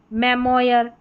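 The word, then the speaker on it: memoir: जैसे यहां पर है मेमोयर। मेमोयर ओ आई आर सभी में लास्ट में है।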